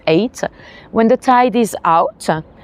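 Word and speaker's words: Ait: It spells AOT, but we pronounce it eight.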